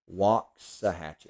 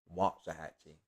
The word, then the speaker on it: Waxahachie: Waxahachie. Oh, so I said it wrong. Waxahachie.